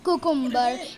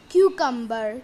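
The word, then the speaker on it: cucumber: हमारा next word है कुकुम्बर। इसे हम सब कुकुम्बर कहते हैं, बट नो, it's wrong. It's right pronunciation is क्यूकम्बर।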